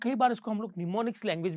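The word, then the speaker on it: mnemonics: क्या कहते हैं फ्रेंड्स, निमोनिक्स, एम रहेगा साइलेंट, निमोनिक्स।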